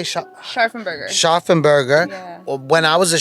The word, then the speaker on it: Scharfenberger: Scharfenberger.